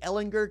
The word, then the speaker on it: Ehlinger: all the things that Sam hard G Ellinger can do at Texas